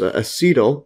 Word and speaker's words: acetyl: An acetyl, or actually I think it's pronounced acetyl, is a moiety and an acyl.